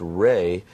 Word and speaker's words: Ra: we could start with the raw the the source of all life being the Sun this idea actually pronounced ray is that this great